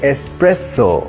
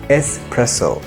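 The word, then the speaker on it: espresso: এসপ্রেসো যেটি এক ধরনের কফি অনেকেই এই ওয়ার্ডটিকে প্রোনাউন্স করে এসপ্রেসো কারণ এটিতে দুটি এস আছে স্পেলিং এ কিন্তু আমরা দুটি এস থাকলেও একটি এস এর প্রোনাউন্সিয়েশনই করবো এসপ্রেসো I love to have a strong cup অফ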